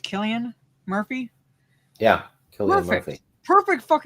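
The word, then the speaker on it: Cillian: Is this his name pronounced Killian Murphy? Yeah, Killian.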